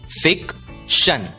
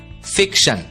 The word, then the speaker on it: fiction: अगला शब्द देखते हैं, शब्द है FICTION। ध्यान दीजिए, TION की आवाज होती है शन और इसलिए FICTION का उच्चारण होगा फिक्शन, फिक्शन।